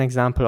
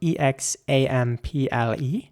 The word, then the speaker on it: example: In British English, people would say example, again with an R sound. And in American English, people would say example with an A sound.